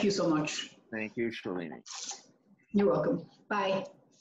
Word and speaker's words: Shailini: Well, it's funny because the Indian name is Shalini, but I'm from Nepal. We have to be a little different. So mine is Shailini. There's an extra I. Shailini.